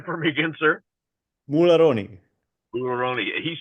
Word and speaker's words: Mularoni: here uh by the name of M pronounce say your last name for me again sir mulon mulon he says it a lot better than